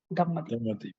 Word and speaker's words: Damadeep: Damadeep. Yes. Is the pronunciation correct, or? Yes, sir. Yes, sir. Correct, sir. Damadeep.